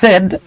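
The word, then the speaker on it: said: দেখতে পাচ্ছি ন্যারেশনের হেনা সেড হ্যাঁ একটা ইন্টারেস্টিং বিষয় বলি আমরা এটাকে সেইড বলি উচ্চারণ হচ্ছে সেড হ্যাঁ সেড হেনা সেড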